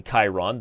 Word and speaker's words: Chiron: So, by the way, you corrected me from pronouncing Chiron, and now I'm saying correctly Chiron, the Greek centaur.